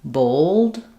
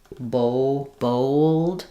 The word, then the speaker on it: bold: sometimes with this is that they want to do more of an O sound like in bold. Um, but that will have the O sound. Um, so it'll be old, kind of an O sound with a um, bold. Because it's rounded, more rounded than the A, it's going to have that kind of extra W sound connecting the two.